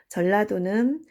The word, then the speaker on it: 전라도: 그 다음에 경상도에서 주요 도시가 경주, 상주가 있었는데 경주의 경, 상주의 상이 합쳐져서 경상도가 되었고, 전라도는 전주의 전, 나주의 나가 합쳐져서 전라도가 되었습니다. 나가 뒤로 가면 라로 발음을 하죠. 그래서 전라도.